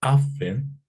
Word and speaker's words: Aŝfen: aizada podría ser eh pronunciada tal cual como afen como si hubiese una letra h después de la letra a o bien simplemente como